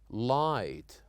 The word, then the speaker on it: light: n and also GH we said that sometimes we write words and letters that we don't pronounce at all like for example here the word or the letters uh GH here we say right light night and also letters that are silenced like the letter K when it followed by